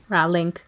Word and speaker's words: Rowling: Rowling. Expectus pronuncius.